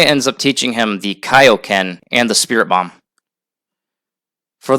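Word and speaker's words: Kaiō-ken: King Kai ends up teaching him the Kaioken and the Spirit Bomb. For those who might be confused, it is actually pronounced Kaioken. In the dub, they said Kaioken, but they pronounced it wrong.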